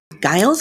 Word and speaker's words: Guile: in the hospital i i noticed that so guy else is how you pronounce his name i'm so sorry daryl yeah